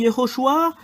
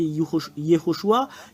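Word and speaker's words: יהושע: vous de voir mais la vraie prononciation du nom de Josué c'est Yehoshua quelle est la raison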